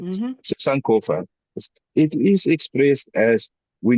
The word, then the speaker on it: Sankofa: So Sankofa.